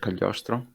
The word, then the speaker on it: Cagliostro: Am I pronouncing it correctly, Gab? Yeah, I think indeed it is Castle of Cagliostro.